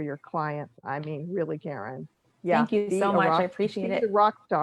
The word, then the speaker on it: Karin: I'm saying it correctly, Karen? Yes.